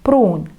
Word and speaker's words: pruun: Pruun, pruun, протягиваем две У.